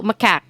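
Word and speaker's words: macaque: sa pag-pronounce ano siya it rhymes with attack ano siya so mack ba o how done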